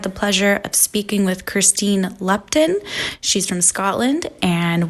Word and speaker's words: Kirsteen: of all I want to know if I'm pronouncing your name correctly okay let's eat it how did you say it sorry Christine yes yes oh my goodness did you get